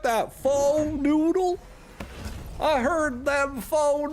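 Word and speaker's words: pho: idea how to spell f it's p h o basically it's pronounced F but if you don't know that you might read it as foe you got you you guys like that faux noodle I heard them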